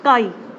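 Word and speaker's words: psi: इस सिंबल को बोलते हैं काई। काई का पी साइलेंट रहता है।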